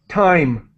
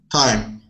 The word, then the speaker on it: thyme: And we do not pronounce the H. That is an herb. How can I read this? Time. Time.